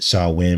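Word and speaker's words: Samhain: the end of this very dark holiday called saw wind now it's pronounced so i win but it's actually spelled s-a-m-h-a-i-n and during this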